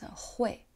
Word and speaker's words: 会: But this character has two pronunciations. One is 会 means be able to, another one is 快 for 会计 account.